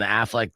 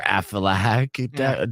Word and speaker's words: Aflac: And Affleck Duck I'm sorry, Aflac duct. I mispronounced that too.